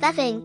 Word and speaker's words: Béibhinn: This Celtic perspective gives the name Vivian, pronounced Veving, which means sweet, melodious lady or fair lady.